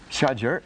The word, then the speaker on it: Shazer: Shajar is a clump of trees. Oh, it's pronounced Shazer, of course.